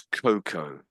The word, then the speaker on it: cocoa: All pretty much most of the although there's an a there I don't most of the time we don't really pronounce it and it just comes out as cocoa brown cocoa brown there